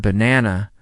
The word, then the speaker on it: banana: For example, in the word banana, the stress is on the second syllable.